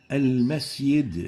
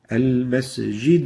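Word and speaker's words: المسجد: Al-masjid. Al-masjid. Yid instead of jid. So the proper way of pronouncing it is مسجد Al-masjid al-haram. Al-masjid. Jid and not al-masjid.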